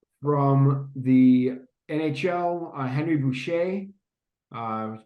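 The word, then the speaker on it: Boucha: um from the NHL uh Henry Boucher uh pronounced uh spelled b-o-u-c-h-a playing for the Red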